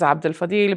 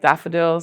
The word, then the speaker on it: Abdel-Fadil: Daffodil Goes Accidental and the name Dr. Daffodil is a play on my own name which is Abdul Fadil. But when I lived in the states um when they were doing the register they would always say my name so fast that it sounded like daffodil.